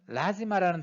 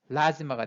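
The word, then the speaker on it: lazima: 이 단어는 예외적으로 뒤에서 두 번째 음절이 아닌 뒤에서 세 번째 음절 라의 강세가 옵니다. 그래서 라지마가 됩니다. 라지마가 아니고 라지마로 발음해야 됩니다.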